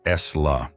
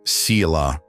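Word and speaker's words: sīla: This practice is called CA, pronounced S-La, which in English means ethical conduct or virtue.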